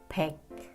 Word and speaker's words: 백: 100 in Korean is pronounced 백. So Koreans use it to mean the English word back.